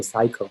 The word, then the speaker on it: psycho: okay so for example the first one we don't say psycho we say psycho so p is silent same thing as a